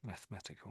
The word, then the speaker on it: mathematical: So, they they definitely pronounce the e the e sound, but it's more of a of a schwa sound, I guess.